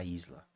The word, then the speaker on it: Aízla: Pronto, a Isla.